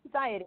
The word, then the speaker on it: MXiety: and talented Marie from Anxiety. I hope I'm saying that right. Did I say it right? I think you got it. Anxiety. It's anxiety with an M.